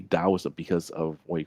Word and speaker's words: Daoism: Uh before it was called like taoism, but it's technically supposed to be daoism because of what you call hanupin.